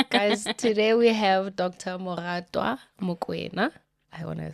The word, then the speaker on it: Moratoa: And just as she was about to lock the name in, my dad is like, no, we're going to name her Moratoa.